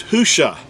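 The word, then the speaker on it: הושע: first of all that's that's not even an accurate transliteration the actual word is who sha it's spelled you know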